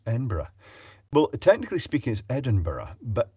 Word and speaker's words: Edinburgh: well technically speaking is Edinburgh but embra e-m-b-r-a is how it tends to be pronounced in Ouija Thomas the